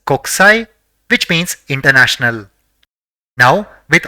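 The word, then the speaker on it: こくさい: The first character in the word is ko, the second is ku, the third is sa, and the fourth is e. So it will be pronounced as kokusai, which means international.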